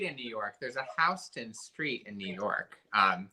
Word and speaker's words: Houston: neighborhoods in new york soho and noho are south of houston street and north of houston street and you pronounce that house then no one needs to